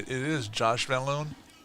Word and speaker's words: Van Loon: It is Josh Vanaloon.